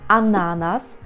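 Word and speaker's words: ananas: будьте обережні банан ще подібним фруктом який має наголос такий для нас незвичний це ананас ананас так теж Зверніть увагу на це Ідемо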